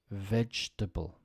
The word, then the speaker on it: vegetable: receipt answer silent w vegetable silent e in the middle and table is Turbo